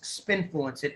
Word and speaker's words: spINFLUENCEit: of a breath but it's basically the word influence spin in the beginning and i t on the end so spin fluence it